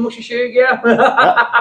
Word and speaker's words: Musha Shugyo: John, any chance of a shout out from Musha Shugyo?